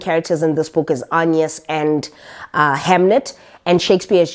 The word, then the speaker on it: Agnes: We follow Hamnet in the story, and Hamnet is the son to William Shakespeare and his wife Agnes, or actually pronounced as Agnes, and we follow Hamnet's story.